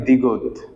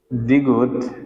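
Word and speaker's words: 디귿: দন্তের গিয়ক নিয়ন তারপরে দেখেন তারপরে হবে কি দ্বিগুত দ্বিগুত দ্বিগুতে কি হবে দীগতের পরে আসবে কি ঋউল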